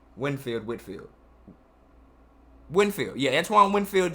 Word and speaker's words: Winfield: of a slide and then we have antoine whitfield winfield whitfield winfield yeah antoine winfield jr i thought i always get his name wrong the guy from the buccaneers who came